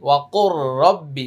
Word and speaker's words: وقل رب: কফ র পেশ কুর এখানে লাম উচ্চারণ হবে না ওয়া কুর র বা জবর রব বাজের বি ওয়া কুর রব্বি ওয়া কুর রব্বি হামজা